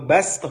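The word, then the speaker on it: بسطة: atau basto, kita bacanya basto dengan sin. Tapi ditulis dengan sod karena zadaku menambah kalian, bangsa Ad ya di ayat tersebut.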